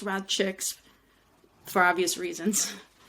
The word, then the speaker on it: RadChick: um and it is now rad CX still pronounced rad chicks for obvious reasons